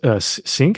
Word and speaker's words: Cinque: One thing I'll mention, I don't think we said this already, but what's his Sink? How do you say his name? It's Cinque.